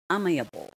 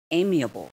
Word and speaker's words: amiable: next word amiable amiable not amiable okay it is amiable amiable ninth word berry berry